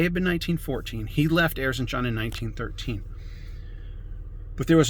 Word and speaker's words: Erzincan: Prior to World War I breaking out in Erzincan is the pronunciation, the home of Sogolmun Talerian, the place where his family lived and where his family was massacred during the genocide.